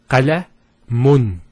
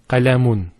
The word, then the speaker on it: qalamun: So notice the noon sound at the end. It's pronounced as the following. It's the dhamma at the end, followed by, let's take this off, because we're going to put a noon at the end. A noon. With a sukun. So, qalamun. That's how it's pronounced, and this is how it's written.